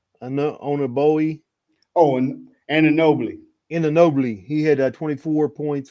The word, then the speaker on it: Anunoby: Oh, and Anunoby.